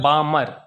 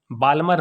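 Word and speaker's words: Balmer: series है ब्राह्मण series इसमें ऑयल साइलेंट है बामर बाल्मर ने बामण तीसरा है पाषाण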